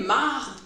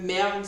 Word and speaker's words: marde: Avec la prononciation populaire, c'est tellement plus libérateur pour nous de dire hey, marde que merde, ça semble plus fort.